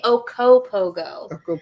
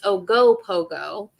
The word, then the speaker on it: Ogopogo: I like to say Okopogo, but that's not how you say it. It's Ogopogo.